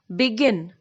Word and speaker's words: begin: For example, begin. Here we have two syllables, B and gin, begin. And our stress is on the last syllable, that is gin, begin.